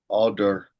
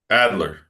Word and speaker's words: Adler: Um but it's ingrained in us um Alder I can never say it right Alder right Alder? Alder would say um Adler Adler Adler would say that um your birth order played a significance.